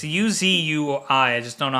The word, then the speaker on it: Uzui: I think it's Uzi. It's Uzui.